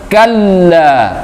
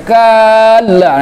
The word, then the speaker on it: kalla: di awal tadi, bahwa setiap ada tasydid kita tahan. Jangan dimasukkan langsung. Jadi kita baca kalla, ditahan. Kalla. Ya. Tapi jangan terlalu lama ditahannya seperti mad tabi'i. Nanti dibacanya kalla. Nah, itu memanjangkan huruf. Jadi salah. Tidak boleh dipanjangkan.